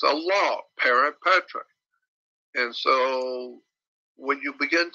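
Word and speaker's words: parens patriae: I don't know exactly how to spell it, but it's pronounced parent patriae.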